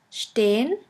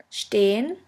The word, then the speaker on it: stehen: The next letter combination is SP, SP, ST, ST, which is pronounced like the letter combination SHP and SHT. Let's have a look at the examples. The first word is sprechen, sprechen, which means to speak, and the second one is stehen, stehen, which means to stand.